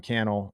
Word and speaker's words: Cannell: Threads history, at Sean Cannell is the same as Instagram, at Sean Cannell rhymes with YouTube channel.